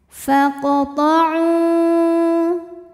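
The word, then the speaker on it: فَاقْطَعُوا: Kemudian ada hukum qalqalah sughra karena huruf qalqalah yaitu qaf sukunnya asli dan ada di tengah bacaan, maka dibaca memantul dengan pantulan yang kecil. Faqta'u.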